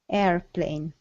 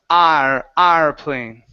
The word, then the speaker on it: airplane: airplane airplane airplane yeah we don't want to say are so um uh those from Hungary uh uh tend to open the mouth for that a sound you say you say uh r r plane okay um and so instead of the ah okay close the mouth a little bit a airplane there you go that's